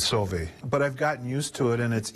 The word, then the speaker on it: Sauve: EVEN MY MAIL SOMETIMES IS SWERVE...SAVE...BUT ITS SOH-VEY!"